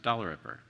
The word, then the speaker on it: Dalrymple: Congratulations also to Saratoga Elementary School PTA President Chesapeake Dalrymple, pronounced Dalrymper, so I did that completely wrong, following in the chair.